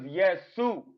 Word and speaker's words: Yesu: No, that's not how you say Jesus in Sudanese. Let's go on here and look it up and say and put Jesus in Sudanese and see what how they pronounce that. Because I don't think you understand. His name was Yesu. You want to hear it?